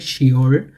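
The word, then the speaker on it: 시월: শিবর শিবল কিন্তু এটাকে এই ফবিটা এখানে উচ্চারণ হবে না এখানে হবে শিওর শিওর আবার এখানে শিব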